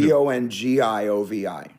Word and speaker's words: Bongiovi: B-O-N, yeah. The same way. G-I, which in Italian phonetics is the J sound. Yeah, oh, okay. So it's pronounced the same way, but it's B-O-N-G-I instead of a J.